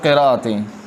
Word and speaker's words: قراءت: 7 حرفوں سے مراد ہے 7 قراءتیں. 7 قراءت. قراءت لفظ کو سیکھیں. قراءت، قرت نہیں ہے، قرت غلط ہے. قرت یار میں قرت پڑھ رہا ہوں، نہیں قرت نہیں، قراءت صحیح تلفظ قراءت ہے.